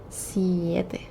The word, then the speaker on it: siete: Siete. 7, siete. Siete like siesta. Siete.